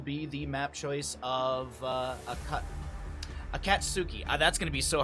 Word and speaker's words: Akatsuki: Sorry, I was saying it earlier and I kept saying it differently, but Akatsuki, I think, is actually how you say it.